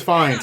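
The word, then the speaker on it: Fiennes: We are looking at how to pronounce Ralph finds. Ralph finds fines.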